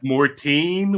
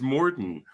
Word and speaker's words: Mortenn: magic live and then he mispronounces my name seven times as Mortin or something Martin I'm like what dude we met each other and it's Morton well in my defense